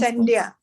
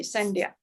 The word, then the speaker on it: Sandhya: Yes, Sandhya. Okay, the H is silent. Okay, Sandhya.